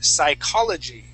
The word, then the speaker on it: psychology: will have taken her psychology psycholog good excellent job so and he used H yes yes the p is silent okay okay silent P